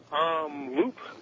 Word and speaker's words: Loop: Loop, Texas, to be exact. Did you and what was the pronunciation on that again?